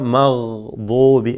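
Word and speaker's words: مغضوب: ഇവിടെ നമ്മൾ ഓതാൻ പോകുന്ന മഗ്ദൂബി അല്ലേ, മഗ് മഗ് മഗ് എന്ന് ആവർത്തിച്ച് പറഞ്ഞ് ആ ഗൈനിൻ്റെ മഖ്റജ് ശരിയാക്കിയെടുക്കുക. അഥവാ കൃത്യമായ അതിൻ്റെ മഖ്റജിൽ നിന്നുമുള്ള അതിൻ്റെ ആ ഉച്ചാരണം പരിശീലിക്കുക എന്നർത്ഥം.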